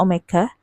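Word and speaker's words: ω (omega): kurung e Omega T Ini bukan W ya Sekali lagi Ini bacanya Omega Omega itu latin ee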